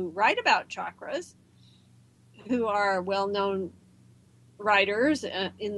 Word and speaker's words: chakra: there's the chrum a chakra it's self means wheel literally it's a Sanskrit word that means wheel and it is not pronounced Shakra there's no such word as Shakra in Sanskrit language or in the English